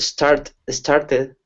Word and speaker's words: started: Yeah, this is an American English thing, but the second T is really going to sound like a D.